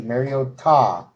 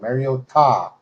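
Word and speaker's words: Mariota: I wanted you to make sure that we we pronounce this correctly. Mario Ta.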